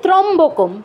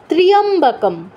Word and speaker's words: ত্র্যম্বকম: প্রথম কি আছে, প্রথম শব্দটাই ওম, আমরা কি বলি ত্রম্বকম, ত্রম্বকম কিন্তু নয়, কারণ বলেছি ইয় ফলার উচ্চারণটা করতে হবে, তয়রা ফলের সাথে ইয় আছে, তো এটা স্কিপ করা যাবে না, উচ্চারণটা কি হবে ত্র্যম্বকম, ত্র্যম্বকম यजामहे, ओम त्र्यंबकम यजामहे